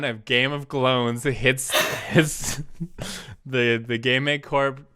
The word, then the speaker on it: Glones: It's like clones, but Glones.